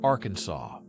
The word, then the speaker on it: Arkansas: In Arkansas, it is prohibited to mispronounce the state's name. It must be pronounced with a silent ending, like Arkansas.